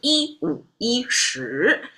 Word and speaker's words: 一五一十: And as part of the truthfully, the pronunciation of 一五一十, everything retain its dictionary pronunciation. There's no change or adaptation. There's no tonal mismatch from its original or dictionary correct standard. So 一五一十 is how it goes.